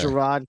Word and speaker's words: Jerrod: Jared ger Gerard Gerard ger Gerard did I spell it wrong no you spelled it right it's Gerard it's Gerard carmichel okay I have a hard